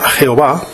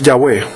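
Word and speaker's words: Yahvé: dios de la biblia la forma jehová es una errónea e incorrecta y falsa pronunciación del nombre del dios de israel que es yagüe seguidamente alistamos una relación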